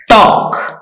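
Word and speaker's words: talk: don't टॉक in class टॉक का L silent है टॉक last don't throw rappers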